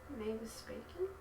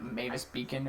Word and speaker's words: Mavis Beacon: Mavis Bacon? Yeah, what is that? Teaches type. Mavis Bacon teaches typing. It's actually like pronounced like spelled like Mavis Beacon or something like that.